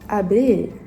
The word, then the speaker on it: abeille: Ah, on prononce abeille.